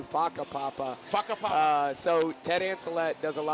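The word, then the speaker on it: whakapapa: Waka Papa. Yeah. What is that? That would be cool if that's how you pronounce it. How do you pronounce it? It's actually Faka Papa.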